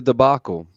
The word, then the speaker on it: debacle: It was quite the debacle, or debacle, or however the fuck the debacle. word is No, you said pronounced. it right the first debacle. Yeah, That was correct.